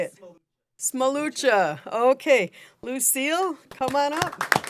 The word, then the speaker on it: Smolucha: And our final one is Lucille Smoluka. Did I say that right? Close enough? How do you say it? Smolucha.